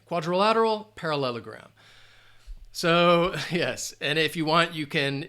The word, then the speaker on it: quadrilateral: trying there we go quadrilateral five syllables again quadrilateral parallelogram so yes and